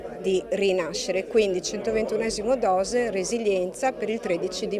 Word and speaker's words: Dox: la nostra bolcina 121 dose in lingua Veneziana Tant'è vero che è scritto Dox con la x e con orgoglio lo pronunciamo dose il 121 dose rispecchia